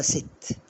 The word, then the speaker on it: sit: اقولها ست بص بقى هنا نطقتها ست لان هنا في الاخر ما فيش حرف الاي ست يعني يجلس طب